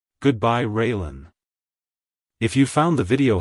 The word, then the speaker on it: Raelynn: sound at the end keep the emphasis on the first syllable like Hello railen Goodbye railen if you found the